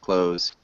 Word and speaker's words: clothes: clothes clothes yeah so you can almost get rid of the THS or th sound for Z sound clothes if that makes sense